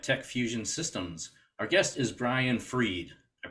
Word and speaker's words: Brian Fried: Jay Farr AT techfusion Systems Our Guest is Brian freed I pronounced that correctly right yep and actually sometimes